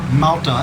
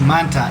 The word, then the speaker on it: Manta: Everybody, and listening to that video, I kept calling the port Malta. It's Manta, M-A-N-T-A, not M-A-L-T-A.